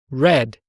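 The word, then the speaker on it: read: o passado é head escreve igual mas a pronúncia é diferente o Grid infinitivo e Red no passado e o que acontece com verbos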